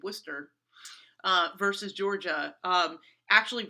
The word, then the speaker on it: Worcester: then the next year worcester i may be pronouncing that incorrectly or worchester sorry i'm from new england where we say worcester uh versus georgia um